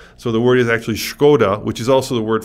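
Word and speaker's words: Škoda: company we're talking about if you're pronouncing it the way you read it is skoda right right at s-k-o-d-a except in check there's a little a hot check which is a little check above the s which turns the s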